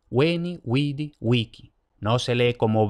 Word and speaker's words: vici: ninguna parte por tanto no es Winky no es winchi no es wiki igual que Wikipedia y luego como ya he adelantado la c se lee como K no Wii bichi vinchi no